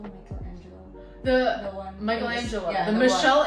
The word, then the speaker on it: Michelangelo: it the Michael the how do you say Michelle Angel Michelangelo the one Michelangelo the Michelle Angelo you see